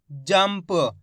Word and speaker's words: जंप: जाम अनुस्वार की मात्रा जम प, तो मिलके बन जाएगा जंप। इस प्रकार से शब्द को पढ़ा गया है, जंप, यानी कि आधा माँ का उच्चारण निकला है यहाँ पे।